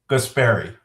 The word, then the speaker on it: Guaspari: It's Guaspari.